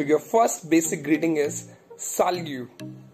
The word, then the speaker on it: salut: So your first basic greeting is salut. How do we say this word? Salut. S-A-L-U-T. On pronounce, we pronounce like salut.